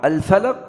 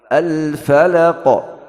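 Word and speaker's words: الفلق: Juga huruf qaf ini huruf yang qalqalah. Al falaq, kalau kita tidak kasih qalqalah, tidak sempurna.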